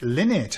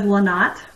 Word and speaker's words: Lynott: And today we are with, Lynott. Have I pronounced your name correctly? I think it is. Well, my husband says Lynott, but there's some debate in our family, so Lynott is one of the pronunciations.